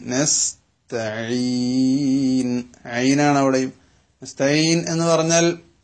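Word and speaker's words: نستعين: തു അലിഫ് ബ ത, മലയാളത്തിലെ തോ എന്ന് പറയുന്ന ഉച്ചാരണം അറബിയിൽ ഇല്ല. പക്ഷേ ഇവിടെ പലപ്പോഴും നസ് തോയിൻ നസ് തോ താവും പോയി അതോടൊപ്പം അതിന്റെ ഫത്ഹ പോയിട്ട് തോന്നായി തൊലി പോലെ.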